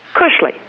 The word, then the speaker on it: Kushley: Kushle.